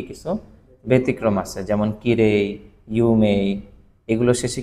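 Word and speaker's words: 有名: কিরেই বলে না কিরেই শব্দটাকে বলে খিরে আবার ইউমেই শব্দটাকে ইউমেই বলে অর্থাৎ শেষে ই দিয়ে উচ্চারণ খুব কম করে বলে ইউমে কি বলে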